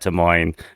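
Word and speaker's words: Des Moines: of names especially at T Moine which the S is silent as Ron Kumer tells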